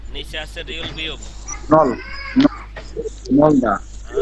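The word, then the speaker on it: 넓다: ন নলদা। গুড। না, কি? নলদা। নলদা। নলদা। নলদা অর্থ কি? প্রশস্ত। নলদা অর্থ কি? প্রশস্ত। নলদা। এই যে রিউল আর বিয়োগ আছে, ঠিক আছে, এখানে বিয়োগের উচ্চারণটা হবে না।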